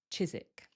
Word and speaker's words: Chiswick: Remember, we remove that W, so it sounds like Chiswick.